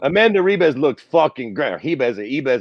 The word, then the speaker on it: Ribas: Ribas, however the fuck you pronounce it. Fucking you lose the R with the Portuguese, whatever.